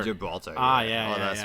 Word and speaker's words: Gibraltar: Oh, Gibraltar. Gibraltar.